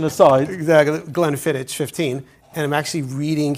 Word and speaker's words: Glenfiddich: So we were schmoozing before, our viewers, that the right way to pronounce it is Glenfiddich. Glenfiddich. Or Fiddich. It's a Gaelic pronunciation.